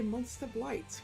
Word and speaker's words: Monster Blight: two experience is called a monster blight which um rhymes with decorations or Heights um so last time